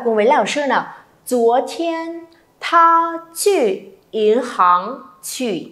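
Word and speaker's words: 昨天: Chúa thiên, âm chờ, không bật hơi nhé.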